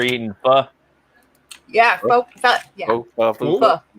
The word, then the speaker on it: pho: Pho. It is pronounced pho. I can't. Pho. Okay. I mess up because it's spelled pho, but that shit's awesome.